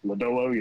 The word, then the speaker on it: Lodolo: I mean, from what I follow the Reds, Nick Lodolo, did I pronounce it right? Oh, Lodolo, yeah.